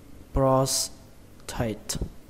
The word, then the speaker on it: prostate: Cái từ đầu tiên này thì các bạn đọc là prostate, prostate. Các bạn nhớ là trọng âm của nó rơi vào âm đầu tiên, âm pros, pros, xuống giọng âm tate, prostate, prostate.